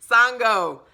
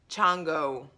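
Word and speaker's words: Shango: And so I just typed it in, motherfucker, it is Yanga, Sango, Chango. However, it's different, it's pronounced differently in different regions.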